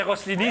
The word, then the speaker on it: Rossellini: Rossellini. C'est pas bien prononcé, mais c'est Rossellini. C'est Rossellini, mais Rossellini, ça va.